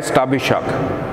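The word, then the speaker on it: Shatabhisha: Number 24 के ऊपर है स्टाबिशक, ठीक है, लिखने में स्टाबी शक आता है लेकिन के इसका साइलेंट है, कि बोलने में स्टाबिशा आप इसको बोलेंगे।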